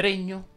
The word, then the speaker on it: regno: apprezzo spezia anche le terminanti in legno richiedono una pronuncia chiusa si dice regno pegno legno degno sostegno ingegno e così via a questa regola non ci sono eccezioni meno marine anni ma